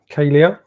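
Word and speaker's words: Kalea: was perfect absolutely spot on i've got kalei kalia is how it's pronounced kdr german bottle advent calendar from amazon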